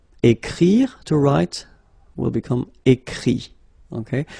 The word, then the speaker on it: écrit: Écrire, to write, will become écrit, okay? Remember that phonetically this final T doesn't exist, okay? So the sound will be only this I, écrit, all right?